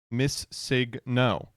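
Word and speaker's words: Missingno: That's how you pronounce it. Miss Signno.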